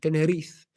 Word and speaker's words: Tenerife: Tenerife.